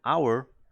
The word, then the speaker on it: hour: jota inicial House pero Hour la H no se pronuncia por lo tanto si